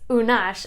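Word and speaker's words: Unax: it would be like, whoa, how do you pronounce that? It's Unash, and this is a completely new name to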